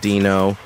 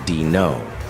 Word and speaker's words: Dino: He squinted at the paper and said, "You're hired, Dino." He pronounced it Dino. "It's actually Dino," I told him. "Like dinosaur."